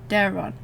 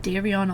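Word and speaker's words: Daeron: I want to say I always say his name wrong Daron Daron I always said Darion or Darion or whatever Dar there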